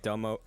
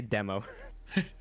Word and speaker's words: Domo: Before I leave, I look at Domo. How do you say his name again? No, it's just Domo. Domo. Domo. I was gonna say demo.